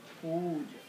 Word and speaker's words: Pooja: Então, o Pudia, normalmente escrito em inglês com dois O's, mas em português seria mais sentido escrever com dois U's, porque a pronúncia é Pudia.